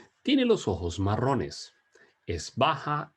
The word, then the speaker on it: baja: Ella es baja y delgada. Couple of things before we continue. Notice how I pronounce the J in the word baja.